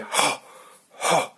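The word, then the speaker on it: ح: Comme si vous aviez un gros piment, un bon piment bien pimenté, c'est le cas de le dire, dans votre bouche. Ça m'est arrivé il y a pas longtemps en plus, donc je sais de quoi je parle. Et donc c'est ho.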